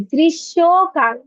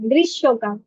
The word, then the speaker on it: গ্রীষ্মকাল: Baby ময়ের উচ্চারণ করা যাবে না বাচ্চা, গ্রীষ্মকাল বলতে হবে, গ্রীষ্মকাল। ঠিক আছে, ম উচ্চারণ করা যাবে না, গ্রীষ্মকাল।